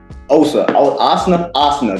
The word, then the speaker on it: Asna: Asna. That's how you say his name. It's like Asna.